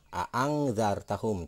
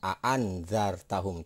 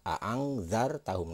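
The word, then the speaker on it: أَأَنذَرْتَهُمْ: Jadi a'angzartahum, tidak a'anzartahum, tidak seperti itu. Jadi yang benar adalah a'angzartahum.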